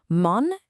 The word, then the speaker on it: mon: Mon and ton are nasal. Your mouth should be kind of closed and rounded, mon, ton.